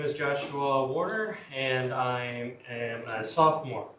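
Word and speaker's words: Woerner: Thank you so much for join Could you pronounce that for us? Uh Warner. Warner.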